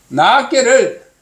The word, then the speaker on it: 낮게: 낮게를 발음을 낮게 좀 길게 해야 돼.